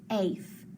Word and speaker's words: safe: So when that happens, that A is long and that E is silent. So we mark it off. So I have safe, safe.